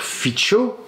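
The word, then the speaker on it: Fico: la tentative d'assassinat de Robert Fitcho c'est comme ça qu'on prononce en slovaque toi toi comme moi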